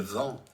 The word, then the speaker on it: vend: It's just ends in the letter D, which is silent. So let's play again. Il vend.